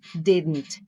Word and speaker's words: didn't: Veja que eu não disse didn't, né? Tenta falar de uma forma bem suave. Se você suavizar o T no final da palavra, você já tem uma melhora de pronúncia incrível em qualquer palavra terminada em T, ok?